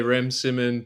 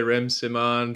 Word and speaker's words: Rem Siman: it differently I say REM Simmon people say REM Simon people say it doesn't matter to me man I'm Latino so you know it's well it doesn't have an accent in the a but you know that's